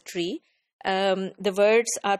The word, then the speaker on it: three: Five is called five, pronounced as five, and three is always pronounced as tree.